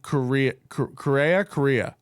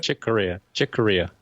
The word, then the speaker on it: Corea: I only know what was said on Freddie Correa. How do you say it? Chick Corea.